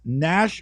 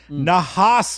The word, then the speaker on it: Nahas: sorry not I'm sorry I'm saying it wrong nahas Motorcars n a h s Motorcars nahas Motorcars in Los Vegas yeah